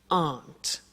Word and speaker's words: aren't: they aren't cheap so the difficulty here is the pronunciation of our not which is Aunt okay art good so